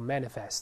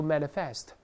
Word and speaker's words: manifest: 物动词，但发音重音不变，依然读成 manifest，而不要读 manifest，重音还在前面。